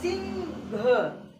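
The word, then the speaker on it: Singh: AH, हा, sorry, हा की स्पेलिंग HA होता है। यहाँ पर देखो समझो, सिंह, सिंह, घ, यहाँ पर ग जो बोला जा रहा है वो साइलेंट रहता है।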